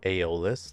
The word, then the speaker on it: Aeoluz: So I'll introduce to you Aeoluz. That's how you say it.